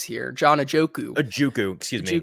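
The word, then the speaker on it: Ojukwu: It's the guy who I'm going to give it right back to you on mispronouncing names here. John Ajokwu. Excuse me. Ajokwu.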